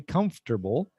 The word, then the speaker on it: comfortable: it's more comfortable remember it's spelled comfortable but we say comfortable it's more comfortable and